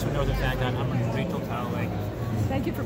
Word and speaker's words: Talalay: I'm Rachel Talalay. Thank you for pronouncing it properly. I practiced. Didn't they tell you Talalay from Gallifrey? No. Or Talalay like Tallahassee. Those are the two.